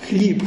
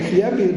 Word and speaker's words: хліб: що Михай так треба як читати хліб хліб а не хлеб бо так вони вимовляли